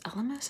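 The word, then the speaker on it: Elemis: same I used the LMS LMS is how you say it cleansing balm to remove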